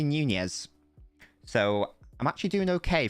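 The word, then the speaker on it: Núñez: newnia or or nunez it is apparently nunez so i'm actually doing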